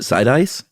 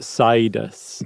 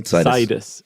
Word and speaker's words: Sidis: they were talking about, Sidis. Sidis. Yeah, so the with the emphasis on the side, but I had not heard of him before, had you?